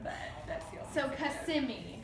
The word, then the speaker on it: Kissimmee: I'm sorry for repeating that, but that's the only So Kissimmee. Kissimmee. Is that the correct pronunciation? That is correct.